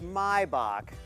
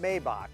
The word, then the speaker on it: Maybach: from Rick Ross lyrics It's pronounced mybach not Maybach and the s680 here